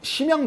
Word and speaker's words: 선양: 군구 이제 북부 군구 심양 군구 그래요 어 중국 발음으로 선양 군구 중국은 인구도 많고